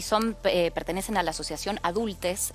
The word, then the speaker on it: Adultxs: pertenecen a la asociación adultes. Está bien la la pronunciación, pero se escribe con X, adultes.